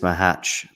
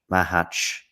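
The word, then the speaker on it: Macháč: serve and regarding this Mah hatch Mah hatch am I saying it M hatch am I getting closer yeah it was actually good I mean I think I stressed the wrong syllable slightly at one point anyway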